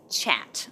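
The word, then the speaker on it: kyat: um it was $1 equal 5.6 chat so that's how you pronounce their currency the chat so the government set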